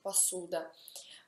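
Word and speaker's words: посуда: Un altro esempio può essere passuda, stoviglie, passuda, ma si scrive posuda, si pronuncia passuda.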